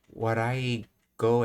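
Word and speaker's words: 笑い声: Oh, Warai Goe, as it's pronounced.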